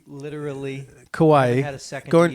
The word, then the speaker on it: Kauai: I don't even know how to pronounce it yet, so you'll have to pronounce it for me. Kauai. Literally. Kauai.